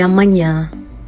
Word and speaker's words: amanhã: Até amanhã. Até amanhã. Now the N and H gives the sound N, like the way you say onyame, okay?